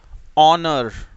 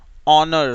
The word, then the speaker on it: honour: एक और वर्ड आपको बताता हूं मैं, HONOUR, ऑनर, ऑनर, सम्मान, ऑनर, ठीक है। चलिए next, silent W, silent W, जब डब्ल्यू और आर